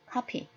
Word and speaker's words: copy: 또 복사하다의 카피는 copy, copy. 두 입술을 붙이고 발음을 하면 됩니다.